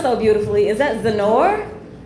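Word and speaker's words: Xenore: It's spelled so beautifully. Is that Zenor? X E N O R E. Zenor.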